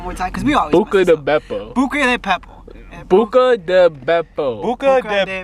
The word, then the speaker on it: Buca di Beppo: Because we always Buca de Beppo.